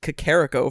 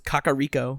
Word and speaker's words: Kakariko: I said Kakariko for a long time until I was told it was Kakariko.